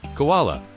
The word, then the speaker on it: koala: Although the vowel was originally written in the English orthography as uo in spellings such as kula or kula two syllables. The spelling for that sound later became oa. The word is now pronounced in three syllables.